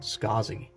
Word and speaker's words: Scaasi: was right here so last name is scazi s-c-a-a-s-i so the designer is a was born in 1930 named arnold isaacs but he actually reversed his last name to be pronounced and spelled scozzi he thought that that